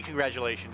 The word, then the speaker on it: congratulations: Does it have a T or a D, congratulations? It sounds like congrat. People say congrat, but you say congratulations like a D. It doesn't always sound like a D, congratulations. It's a G even.